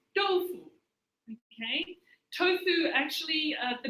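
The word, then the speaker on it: 豆腐: little bit about our dish tofu is actually pronounced dolphu okay tofu actually uh the name believe it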